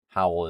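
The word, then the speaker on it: Howell: Howl is more accented how how like you're howling.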